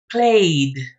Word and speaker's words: played: In this case, the past tense of play sounds as D. Played. Played. You pronounce the letter E and then the letter D.